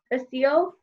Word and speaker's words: Basile: Maria Basile. I don't know. Yeah, Basil. Basil. Yep. The E is silent.